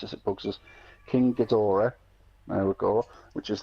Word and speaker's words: Ghidorah: you've got yeah King see if I can pronounce it books as King Ghidorah there we go which is the three-headed one